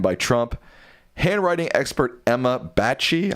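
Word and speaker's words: Bache: Handwriting expert Emma Bachie, I'm not sure if that's how you say her name. B A C H E. Yes. Says I think it's Batch. Batch says the signature is absolutely his despite Trump's denials.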